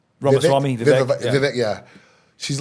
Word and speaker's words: Ramaswamy: She's like Vivaswamy. Like, how do I say his name? Ramaswamy, Vivek.